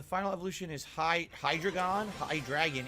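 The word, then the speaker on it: Hydreigon: evolution is high hydrogon high dragon is the pronunciation got it Hydra gun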